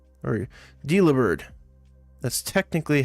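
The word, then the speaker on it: Delibird: that it is but it's supposed to be like a delivery bird it carries food all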